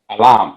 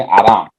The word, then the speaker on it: Alam: Many tribes, they could not call me alam. They used to call me aram. because in that tribe, they cannot pronounce the word L as L.